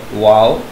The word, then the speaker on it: vowel: यहाँ पे एक कॉमन वर्ड है HOW, हम उसको पढ़ते हैं हाउ, या वर्ड है NOW, हम उसको पढ़ते हैं नाउ। इन द सेम है यहाँ पे वर्ड है VOWEL, वाओ, इस तरह नाउ, हाउ, वाओ, वाओ, वाओ।